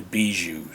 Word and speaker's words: Bijou: It was actually downtown in Colorado Springs on Bijou. It looks like it's spelled Bayou, but it's actually Bijou Street, for those of you who are not from Colorado.